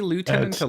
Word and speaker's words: lieutenant: was adepticeyber tease myself did they say Lieutenant a lieutenant yeah it could be either but I couldn't pronounced by the way yeah yeah that's right I mean I did have an English teacher who was absolutely if you said Lieutenant he was went absolutely berserk left-handed but no you can say either way yes yes you can